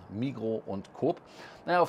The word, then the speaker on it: Migros: rauskriegen woher sind und auch Migros heißt Migros nicht Migros wie es am Flughafen in Zürich heißt mit den S das wird nicht ausgesprochen Mikro und Co na ja